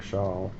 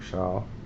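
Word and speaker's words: Show: by Eric Shaw spelled sh H but it's pronounced Eric Shaw Eric Shaw um Bruce Boi was one of he was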